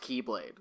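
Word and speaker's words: χ-blade: Spelled X-Blade, but it's pronounced Keyblade.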